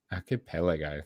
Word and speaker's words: archipelago: like how do you say that one archipelago archipelago thank you in this physics-driven sandbox use cheers